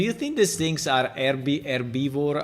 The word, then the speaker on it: herbivore: How do you say? Wait, I pressed F12 for whatever reason. Ah, with the H.